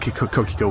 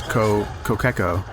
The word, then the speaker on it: Kokeko: I didn't let Kokiko win. He won fair and square, man. Oh, I gotta correct myself. I heard him say his name is Kokeko.